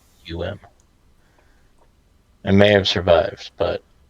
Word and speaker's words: Serapeum: It's Serapeum.